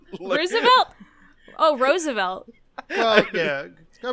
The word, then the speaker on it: Roosevelt: It's just that you said Roosevelt. Roosevelt? Oh, Roosevelt. Well, yeah. I mean, Teddy and Franklin both pronounced it differently, so...